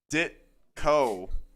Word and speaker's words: Ditko: towed by I your pronounced it dick. wrong. It's Ditko.